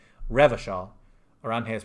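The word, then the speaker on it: Revachol: go inside there at some point revision is pronounced Revo Shaw around here is pronounced uh class yes pronounced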